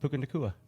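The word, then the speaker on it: Puka Nacua: pronounce that correctly? Did you look that up? Puka Nakua.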